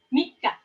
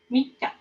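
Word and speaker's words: 三日: Dibacanya Mika. Iya, Mika. Dibacanya Mika. Mika. Bukan sang ya, dibacanya Mika.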